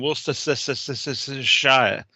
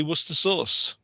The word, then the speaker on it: Worcester sauce: They keep on going Worcestershire, but in fact in England we just say Worcester sauce.